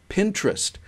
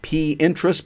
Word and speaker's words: Pinterest: in the bridal industry pinterest it would be very important like p interest but it's pronounced pinterest is a site Pinterest